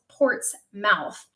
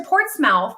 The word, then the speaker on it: Portsmouth: stationed in portsmouth but it's um spelt port's mouth and so when i first got orders here to virginia everybody at the base in alaska was making fun of me because i'm like oh i got words to port's mouth and they're like tina stop it's portsmouth same thing with norfolk